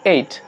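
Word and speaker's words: ate: দেখো ইট মানে খাওয়া এবার হচ্ছে এইট উচ্চারণটা দেখো এইট কেন বলবো শেষে ই রয়েছে তার আগে এ ভয়েল রয়েছে আমরা শিখেছিলাম ওয়ার্ডের শেষে ই থাকলে তার আগে যদি এ থাকে উচ্চারণটা লং সাউন্ড হবে হতে হবে এইট কিন্তু এর লং সাউন্ডটা একটু এই এর মত হয় তাহলে হবে এইট তাহলে এইট খেয়ে ছিল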